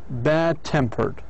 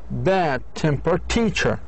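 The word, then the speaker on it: bad-tempered: Example: stress on the final stress compound tends to move to a preceding syllable if the following word begins with a strongly stressed syllable. مثلا tam bad tempered. Bad tempered teacher. لاحظوا كان في عندنا bad tempered stress on لكن لما وضعناها في kind of different sentence or phrase أصبحت bad temper teacher bad temper teacher فأصبح الاسترس على the teacher.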